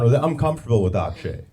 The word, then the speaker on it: Akshay: I said my name's Akshay. It's pronounced Akshay, but don't worry about it.